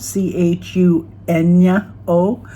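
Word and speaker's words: chuño: Chuno. C H U N Oo. Uh, Chuno, so it makes the N Y sound, were once a backbone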